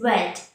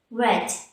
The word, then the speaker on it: read: but the pronunciation changes red red just as the way we pronounce the color red so you see here